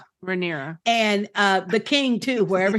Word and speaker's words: Rhaenyra: I'm saying her name wrong too. Rhaenyra. Rhaenyra.